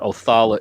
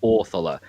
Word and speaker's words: Othala: The stress of the word is placed on the front versus the end. So it's not, you know, it's not Othala, it's Orthala.